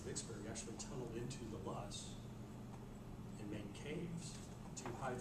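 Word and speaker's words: loess: And L-O-E-S-S, there's no R in it, so it's Luss.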